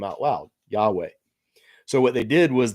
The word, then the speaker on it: Yahweh: reader to accidentally read the name out loud, Yahweh. So what they did was they put the vowels of the Hebrew word, my Lord, on the consonants of the name of God, Yahweh. So Yahweh is how you would say it, but they